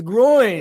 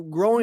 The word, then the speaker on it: groin: why are you saying there's no G on the end of it no it's groin it's your groin that's what I just said say it again groin you said gr growing no I'm hearing something